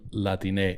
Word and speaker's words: Latine: Yeah, this is like Latin and then ending with an E, pronounce it like Latine. Instead of Latino or Latina, it's Latine. Yeah.